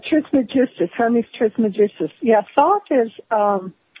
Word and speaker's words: Trismegistus: also been equated with Hermes Trismegistus, I think is how you pronounce it. Yeah, Trismegistus, Hermes Trismegistus.